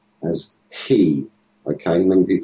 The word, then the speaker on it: chi: alphabet is is is the H and it's pronounced as ke okay many people say chi but that's the the angle Siz pronunciation is